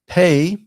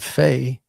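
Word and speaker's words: פ: dog len and then pay. Uh we actually call these pay and fay. Uh with the dog len it is a p as in pastor but without it it's an f sound like the ph you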